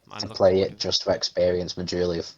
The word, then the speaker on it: Majula: There's an area in there, and I think I'm saying it right by calling it Majula. Mm-hmm. Yeah, it's Majula, exactly.